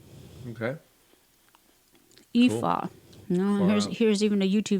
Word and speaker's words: Aoife: Pretty much ignore the first two letters when you pronounce Ignore the it first and two letters.